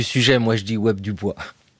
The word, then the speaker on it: Du Bois: diaspora son nom s'écrit du bois ça se prononce du bois il est né vers 1868 c'est-à-dire quelques années